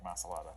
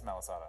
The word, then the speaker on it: Malasada: Um, Like this one, big Masalada or Malasada as my kids say. Oh, it is Malasada. Well, I've been pronouncing it wrongly, they've been pronouncing it right.